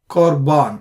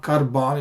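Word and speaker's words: קרבן: For example, Korbano, Korban. It's not Karban, it's Korban. Similar to Chochma.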